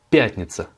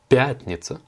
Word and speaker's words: пятница: Vendredi, пятница. Pas de difficulté de prononciation, l'accentuation elle est sur le ya, пятница, donc la première syllabe, et un autre moyen